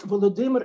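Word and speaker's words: Volodymyr: but difference is that volodymer is pronounced ukrainian way or vladimir is pronounced rashford and nowadays if you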